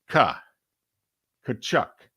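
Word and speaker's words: Tkachuk: syllable ladies and gentlemen t k a is Ka Chuck it's a silent T got it okay he's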